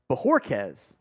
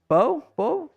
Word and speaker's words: Bojorquez: That may not have been a very good punt there by Corey Bojorquez. It's B-O-H. Bojorquez. I'm going to say it like that.